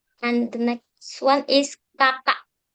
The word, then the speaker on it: kakak: It's quite similar between kakek and kakak. Same pronunciation. It's one word different. Yeah, kakek you use e and kakak you use a. Kakek means grandfather and kakak Means older sibling.